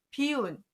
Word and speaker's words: 비운: 거 할 때 쓰는데 발음을 바꿔서 비라고 합니다. 그래서 안일부, 막힐 비는 쓰임 단어들을 잘 보시고, 특히 막힐 비는 비운 또는 비색 할 때 이렇게 쓰는 단어예요.